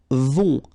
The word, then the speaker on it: vont: Then, ils vont. Final T not pronounced.